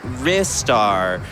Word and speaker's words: Ristar: donation from rizar saying restart is pronounced R star thank you Mackie for